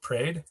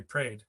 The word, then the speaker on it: parade: and saw the parade so the parade it's one syllable right prayed how do you spell parade right it's three syllables but when we say it we say prayed i went down to